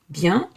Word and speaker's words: bien: Bien, well, it's one word. À bientôt. Bien is nasal. It is pronounced from the nose.